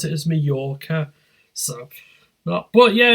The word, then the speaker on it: Majorca: it's spelled with a j yeah you you pronounce it as Majorca but yeah it's a it's a classic advert